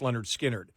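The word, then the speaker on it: Lynyrd Skynyrd: on the backside of pronounced Leonard skinnard when you see them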